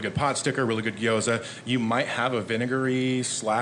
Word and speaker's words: gyoza: The tang of the lumpia and the sour of the gyoza.